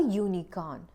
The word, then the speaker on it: unicorn: consonant sound like a Unicorn it's a unique pattern even though it starts with U the pronunciation is different it it is pronounced